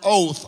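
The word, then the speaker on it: אות: you, but it is the word oath, O-W-T-H, pronounced like our English word oath.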